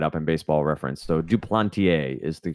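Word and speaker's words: Duplantier: it came right up in baseball reference so do plenty a is the correct pronunciation and I will do a better job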